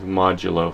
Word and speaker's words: modulo: Okay, so what we do is modulus is essentially how you pronounce it would be 5 modulo 4 equals 1.